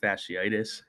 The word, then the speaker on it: fasciitis: Again, it's plantar fasciitis or heel pain. Try to But spell it.